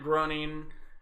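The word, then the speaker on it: Groening: finally got the new trailer for the Matt grunting that's how you say his name claiming I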